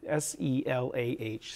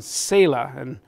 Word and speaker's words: Selah: We render it in English as the word Selah, S-E-L-A-H, Selah. Different ways people pronounce that, but that's the best. That's one of the ways that we often pronounce it in English.